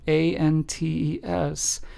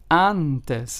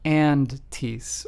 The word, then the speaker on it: antes: And it is pronounced with the a in the English word aha.